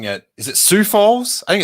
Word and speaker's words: Sioux Falls: pronouncing it is it sioux falls i think it's sioux falls i think it's how it's pronounced sioux falls city council meeting um